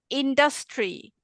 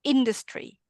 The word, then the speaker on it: industry: You have said industry. It's called industry.